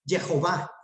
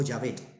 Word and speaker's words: Jehová: Otros van a decir Jehová, Jehová. Pero como es el impronunciable nombre de Dios, por favor no lo pronuncien, dicen ellos, los hebreos. Entonces nosotros terminamos diciendo Jehová o Yahvé.